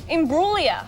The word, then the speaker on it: Imbruglia: Well, how do you pronounce it? How is it? Imbruglia.